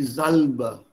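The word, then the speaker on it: Salbe: दी जल्ब। एंड दी जल्ब एस is always pronounce with a ज़ sound, remember जाल्ब, यस सर।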